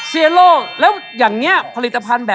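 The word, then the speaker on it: Cielo: เขา เขียน ว่า อะไร c i e l o อ่าน ว่า เสี่ย โล่ เซียโล่ แล้ว อย่าง เงี้ย ผลิตภัณฑ์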